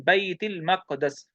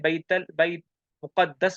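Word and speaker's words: بيت المقدس: हुआ सुऊदु बिर रसूली सल्लल्लाहु अलैहि वसल्लम मिन बैतिल मक़दस, इसे बैतुल मक़दस भी कहते हैं, बैत मुक़द्दस भी कहते हैं। सही है, दोनों प्रोनाउंसिएशन ठीक है।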